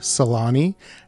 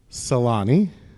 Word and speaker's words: Salhani: she is is he Salani do i get it close so close you're there you're pretty much there there's the H is actually silent in French so don't pronounce it I'm like yeah why